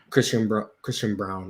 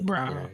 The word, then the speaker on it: Christian Braun: Christian Braun, is that how you say it? Christian Brown, actually. Brown. Very weird spelling of Brown, but Christian Brown.